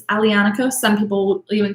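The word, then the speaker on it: Aglianico: is an alianica alianaco is the name of the grape the g is silent so it's alianico some people will even call ali ionico just like just with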